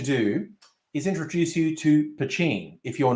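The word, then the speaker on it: poitín: o i t i n either way it's pronounced pachin a lot of people think it's pronounced patine but no i have friends who are actually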